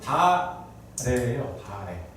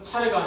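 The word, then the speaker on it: 다례: 원래는 다래예요. 다래가 뭐냐면 다과에 할 때 다자예요. 차 마실 때 차자를 원래는 발음을 다로 합니다. 그래서 원래는 차례가 아니라 다래인데 궁중에서 하는 것은 다래라고 해요.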